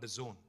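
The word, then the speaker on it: DAZN: and exciting company called The Zone it is pronounced the Zone but it's spelled d-a-z-n now the zone is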